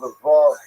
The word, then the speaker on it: Lvov: It was known as Lvov to Poles and Lemberg as to Germans.